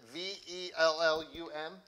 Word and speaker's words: Vellum: I'm going to let Carol pronounce it. Is it V-E-L-L-U-M?